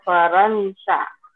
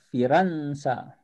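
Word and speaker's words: فرنسا: Jadi Zahaba Hamidun ila Faransa. ila Firansa.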